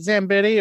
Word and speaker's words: Zambetti: Am I saying it right? Is it Zambetti or are you a Zamboni girl? Well, Zamboni, yes, I've been called that for many, many years, but no, Zambetti, sure. That's right.